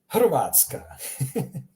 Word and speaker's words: Hrvatska: Notice how I'm pronouncing it, H. Much like the H in helicopter or hamburger. H. That's the one, it's coming from your throat. H. That's the H you're looking for.